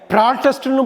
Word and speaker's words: protest: ஆனால் இந்த ரெண்டு வார்த்தைக்கு ரெண்டு உச்சரிப்பு இருக்கிறது. அடுத்து நம்ம பார்க்க போகிற ஹோமோகிராஃப் வந்து PROTEST. PROTESTயை ப்ராட்டஸ்ட்னு படிக்கலாம், ப்ரொட்டஸ்ட்னு படிக்கலாம்.